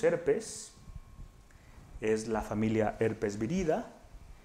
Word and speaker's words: Viridae: una familia se escribe Viridae. Sin embargo, se va a leer, acuérdense que es una palabra grecolatina, se dice Virida.